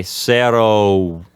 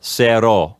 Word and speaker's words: cero: of cero or uno, an English speaker might close their lips and start to change that last vowel sound to say cero, or something like that. But what you're saying is just keep that one vowel sound, cero, yes, and just end the word with that one vowel sound, and don't change it.